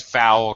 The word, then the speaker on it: fowl: Fowl with a OW is a bird. Sounds the same, but it's different.